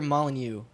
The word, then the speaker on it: Molyneux: Peter Molyneux. I think I'm pronouncing that right.